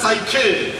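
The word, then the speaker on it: ψυχή: And for the word soul in Greek, the word used is psuche. സുഖെ എന്ന പദമാണ് മൂലഭാഷയായ ഗ്രീക്കിൽ ഉപയോഗിച്ചിട്ടുള്ളത്. Which is obviously pronounced as psyche.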